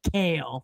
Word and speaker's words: Kale: I'm like, can you say your last name for me? He's like, Kale, like the disgusting vegetable.